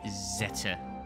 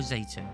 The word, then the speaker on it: Zeta: ninja relic sasuke's blade zeta or zeta whichever you wish to go by pronunciation wise it still keeps its